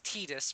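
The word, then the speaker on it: Tidus: that uh uh Tide, I know people are going to say it's Tetus, but I do not care. I pronounce him Titus.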